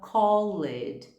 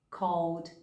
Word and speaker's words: called: Ou a gente fala called, worked, cleaned. Quando na verdade a pronúncia é helped, called, worked, cleaned.